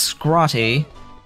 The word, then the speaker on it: Scrotty: Scroty is a rather unfortunate name, even though I'm sure it's pronounced Scrotty. There's no way that I can't pronounce it Scroty.